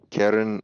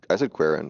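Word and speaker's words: quieren: So Karen is I said Queren, but it's actually Karen. Karen Gwen Cruz.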